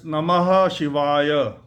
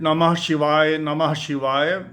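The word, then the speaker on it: नमः शिवाय: And Namah is not the grammatically correct pronunciation. It's Namaha.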